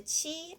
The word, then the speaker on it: qi: How to pronounce this? Because we know cheese. We need this part, and the e. We just know he. Okay, this part, and this is the first tongue. First tongue, just like a so. We say qi, just like this.